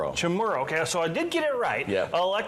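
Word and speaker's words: Chamorro: Chamarro. Chamro.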